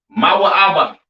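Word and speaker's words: מואב: have Moab all right Moab pronounced ma ABA right the children of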